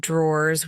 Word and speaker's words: drawer: In British English, the word drawer is often pronounced without the E sound, so it sounds more like draw.